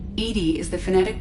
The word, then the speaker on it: EDI: airlock is a job why are you named edie edie is the phonetic pronunciation of edi my core intelligence is housed